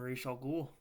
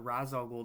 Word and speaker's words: Ra's al Ghul: and this is not my favorite version of Ra's al Ghul or Ra's al Ghul, depending on your pronunciation.